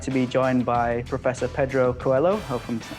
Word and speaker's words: Coelho: Today we're really excited to be joined by Professor Pedro Coelho.